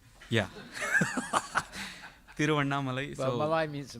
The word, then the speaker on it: Tiruvannamalai: Tiruvanna Malai. Okay. Like Ras Malai. Yeah. Tiruvannamalai.